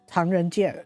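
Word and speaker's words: 唐人街: Chinese wording, it's actually more of something like Tongyanggai, Tangren Ji, Jie, Tangren Jie.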